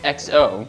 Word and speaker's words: XO: doing the show, and it turns out it's just XO.